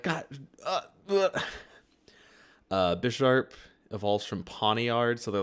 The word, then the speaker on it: Bisharp: Bisharp evolves from Pawniard, so they're like two chess pieces. But if you don't know that, you might say Bisharp, like two sharps, because it has two sharp claws.